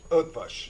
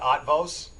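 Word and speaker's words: Ötvös: I know it's not Otvos, and that's how it's spelled, right? And I'm sure you hear that all the time, and you're like, no, it's not Otvos. That's the American way to say it. It's Hungarian. It's Otvos.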